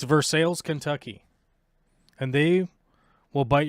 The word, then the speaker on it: Versailles: Every person that is native to this town will blow a gasket if you call it Versailles, because it's Versailles. It's Versailles, Kentucky.